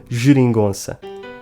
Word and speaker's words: Geringonça: Before an E or an I, the letter G is pronounced /ʒ/, like the J in João, and in any other situation it is always pronounced /ɡ/.